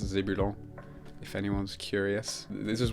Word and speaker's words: Zébulon: It's pronounced Zebulon, if anyone's curious.